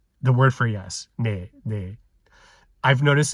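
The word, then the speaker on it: 네: the word for yes, ne. I've noticed it's about 80% of the time people pronounce it more like nasalized de. 20% of the time they might say ne.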